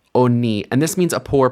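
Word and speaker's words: עֳנִי: This vowel has been shortened, and it's pronounced oni, oni, and this means a poor person.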